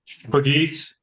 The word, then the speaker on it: Pegues: So you pronounce it Pegues, right? Pegues, yes.